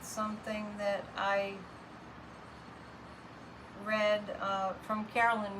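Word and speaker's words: Caroline: And Carolyn Mace, if you want to look her up, it's C-A-R-O-L-I-N-E, and her last name is spelled M like Mary, Y-S-S.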